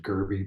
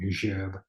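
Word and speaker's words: Gerbe: people pronounce it Gerby, but it's actually Gerb of France.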